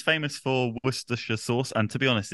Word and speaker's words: Worcestershire: didn't know it from Worcestershire was I close Worcestershire oh yeah Worcestershire Worcestershire yes okay I'm still gonna call it worshiper that's what I've been saying my whole life